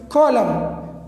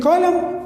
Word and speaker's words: column: we discussed two examples column column so in column m comes before n autumn in autumn also m comes before n so n is silent here here as well